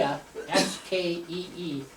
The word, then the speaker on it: Skee: So first of all, to show you that I have Swedish roots, that's the house my great-great-grandfather built in Skee, S-K-E-E, Skee, they pronounce it, Sweden, near Stromstad.